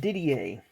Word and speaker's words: Didier: don't I don't recall exactly but that is pronounced Didier then up next born on the state in